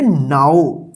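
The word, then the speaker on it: now: देखिए एन इसको पढ़ेंगे नो नहीं इसको पढ़ेंगे नाओ तो इसको आप ध्यान रखिएगा कि यहां पे भी ओ डब्लू है लेकिन यहां पे आऊ उच्चारण हो रहा है ठीक है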